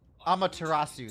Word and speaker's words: Amaterasu: Amaterasu, that's how it's pronounced.